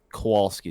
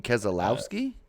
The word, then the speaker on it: Keselowski: need saying that he's a good feeling that Kowalski is gonna take over 48 next season cool name Kowalski I don't know I might have pronounced it wrong k s e l o l you mean Keselowski who said that where yeah that ain't happening